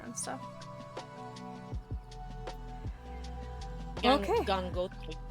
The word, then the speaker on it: Gangotri: Yeah, where you test the pronunciation and stuff. Okay. Gangotri. Gangotri.